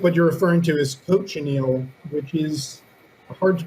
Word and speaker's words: cochineal: you're referring to is cochineal which is a hard to pronounce word the mnemonic device for this coach and eagle my students always like that